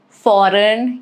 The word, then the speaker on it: foreign: Rule is it is silent before letter N. Like a line, foreign, you do not pronounce G.